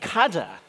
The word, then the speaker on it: cadr: the corrugator names so cada that's the correct pronunciation by the way would